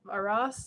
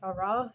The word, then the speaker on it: Arras: There was a development near Arras, or Arras, depending on how you say it.